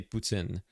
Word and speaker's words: poutine: In in French, we say putin. It's like it's like a ts sound like tin.